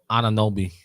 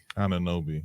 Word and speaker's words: Anunoby: Anunoby. Anunoby.